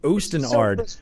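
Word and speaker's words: Osten Ard: But you called it Ostenard. It's self-preservation. You see, that's the first time I've heard someone pronounce it correctly.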